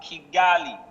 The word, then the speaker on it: Kigali: Rwanda, Kigali. Did I pronounce that well?